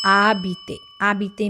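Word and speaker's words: habiter: So this a word letter ash is a silent letter silent letter. So it is like abet means to live.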